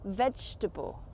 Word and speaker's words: vegetable: third word today, but we don't actually say the word table when we pronounce this word. How do you pronounce it? Correct, it's vegetable.